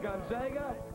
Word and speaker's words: Gonzaga: It's pronounced Gonzaga.